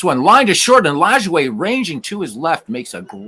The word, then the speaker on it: Lajoie: And this one lined to short, and Lajoie ranging to his left makes a great stab and the catch.